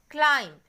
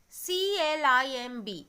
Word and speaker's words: climb: Climb, C-L-I-M-B. What is the pronunciation? It's not climb, it's climb. So, we are not pronouncing the letter B.